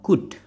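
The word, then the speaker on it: could: kedua bisa menggunakan kata good good Mungkin kalian pernah denger kata good tulisannya kulit bacanya bukan kulot tapi COD ya good is no formal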